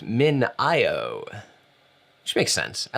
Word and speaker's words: MinIO: today i learned that it is not pronounced mineo it's pronounced min io which makes sense i like mineo though min